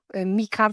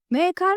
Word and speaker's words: Maekar: Bu arada esiminin telaffuzunu hiç beğenmedim. Mikar falan diyor. Bu sebeple kendi telaffuzuma devam edeceğim.